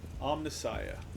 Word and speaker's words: Omnissiah: That's Omnissiah. That's a good pronunciation.